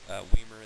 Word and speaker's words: Weimer: Weimer, that rhymes with Beamer.